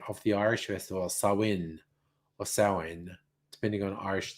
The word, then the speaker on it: Samhain: different to english so in english it looks like samhain but it's actually pronounced sarwin it's like yeah yeah